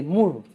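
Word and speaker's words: Moore: es el embriología clínica de mur ya se escribe m o o r e mur hay otro libro que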